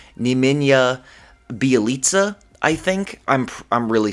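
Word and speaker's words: Nemanja Bjelica: let me just look it up right now neminya bialitsa oh my gosh i said it right i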